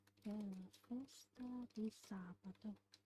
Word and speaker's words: sabato: Per la festa di sabato. Per la festa di sabato. Sabato. The stress is on sa. Sometimes I just end up saying sabato. Like equal stress, but that's wrong, of course.